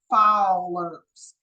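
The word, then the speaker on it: Fowler's: considered to be uh pronounced fers f o w l e r apostrophe s so think of fers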